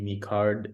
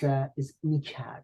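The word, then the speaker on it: میکرد: Is mikad, not mikar, but mikad.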